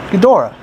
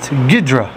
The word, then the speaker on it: Ghidorah: thumbs down next up gadora the three-headed monster um originally known as just gidra the three heated monster I believe that's the Japanese pronunciation anyway gidra um this